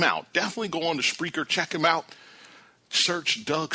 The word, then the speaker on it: Spreaker: Again, Spreaker is speaker with an R in there.